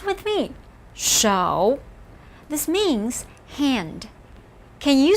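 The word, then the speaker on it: 手: like a mouth as we just saw so pronounce with me show this means hand can you see the fingers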